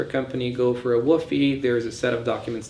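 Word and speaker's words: WFOE: The first one is the so-called WOFE, which is spelled like WOFE, but it's, people say it as WOFE.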